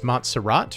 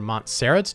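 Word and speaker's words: Montserrat: great alternative all right next up is monserat or Mont serat depending on how you want to pronounce it this is a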